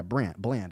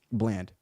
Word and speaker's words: Bland: But yeah, Bland, I said it right, Bland, Deron Bland.